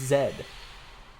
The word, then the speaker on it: Zed: No, a fun fact is his name's actually not Z, it's Zed. I'll stick with Z. The reason why it is the reason why it's Zed is because Zed is how they pronounce Z in the UK.